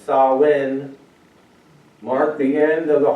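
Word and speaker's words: Samhain: To understand the full picture, we must journey back to the ancient world where Halloween, originally known as Sam Hayne, had a very different meaning.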